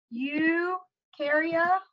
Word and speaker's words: Eukarya: you and knew so remember you Karia rhymes with um new because it has a nucleus whereas um archaea and